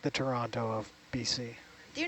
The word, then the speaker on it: Toronto: There's no T's in Toronto. Toronto? Not even the first letter. It's like a ch.